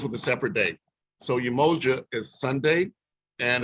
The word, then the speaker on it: Umoja: a separate date so umoja is sunday and it's pronounced oo moja for unity on sunday